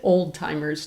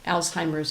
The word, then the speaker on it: Alzheimer's: Sometimes people pronounce it old-timers disease, but Alzheimer's is the name of the researcher who first described the disorder.